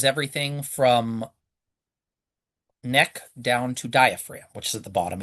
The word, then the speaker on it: diaphragm: Look at the spelling of diaphragm. It's got a ph in it and a silent G in it. Where's the diaphragm?